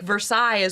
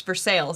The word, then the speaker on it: Versailles: or like Louisville versus like Versailles what you would say but it's for sale but here it's for sales and if you say Versailles people will look at you like who is this guy yeah wow for sales like that's how you say like that's how you let everybody know that you're not from around here there's actually a bourbon